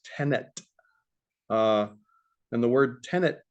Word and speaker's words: tenet: this thing called operational tenants uh sounds like the word tenant as in like renter but uh or occupant but it's not there's no end there it's tenet uh and the word